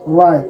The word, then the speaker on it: write: The initial word is W. W ka bilowda, but we cannot pronounce it here. Then we say right.